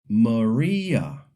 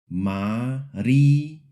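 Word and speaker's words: María: And the word Maria, English speakers often say it like Maria. In Spanish, the I is a pure E sound. Maria. Maria.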